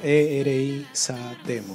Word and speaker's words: Erizatemo: ¿Cómo se escribe Erizatemo? ¿E-R-I? ¿Cómo suena? E-R-I-Z-A-T-E-M-O con S.